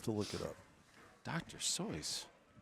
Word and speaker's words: Seuss: I've also heard that it's not pronounced Dr Seuss it's Dr soy you have like I'm